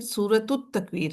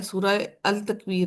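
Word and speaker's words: سورة التكوير: मैं देख रही थी कई लोग कह रहे थे सूर अ तकवीर ये सूर अ तकवीर नहीं है। सूरत तकवीर है। लाम जो है इसके अंदर साइलेंट है। लाम को नहीं पढ़ा जाएगा। ठीक है? सूरत तकवीर होता है। सूर अल तकवीर नहीं होता।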